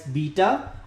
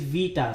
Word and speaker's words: beta: Now you can pronounce it in the English way called as beta or beta, but actually the Greek pronunciation is beta. So B is not B but V.